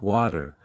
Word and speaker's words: water: the correct tongue placement flap T sound in American English the T between two vowels often sounds like a quick D for example water sounds like water better sounds like better